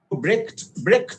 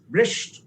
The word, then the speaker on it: Brecht: ব্রেক্ট বলা যায় অথবা ব্রেস্ট বলা যায়। ঠিক আছে, আমরা দুটো টার্মকেই ব্যবহার করে থাকি ইউজুয়ালি।